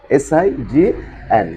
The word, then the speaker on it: sign: s i n s s i g n s sign sign the sounds of the letter must be silent sign means CH next